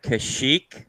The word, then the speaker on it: Kashyyyk: or even spilt right cash sheep how do you say it eh that's correct for one point and